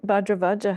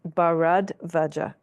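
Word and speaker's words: Bharadvaja: happens it says when badra vaja had finished speaking then oh it's actually I should pronounce this correctly it's barad vaja thank you barad vaja so when bad vaja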